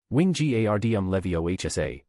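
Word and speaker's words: Wingardium Leviosa: Wing gardm levio hsa with the g being long and pronounced.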